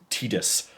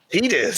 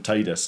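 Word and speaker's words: Tidus: It's pronounced Tetus officially. Tetus. Tetus. Yeah. Every everyone for 20 years I've been calling him Titus.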